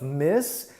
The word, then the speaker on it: Miss: The final sound of Miss is an S sound, miss, miss. And the final sound in Ms. is a Z sound.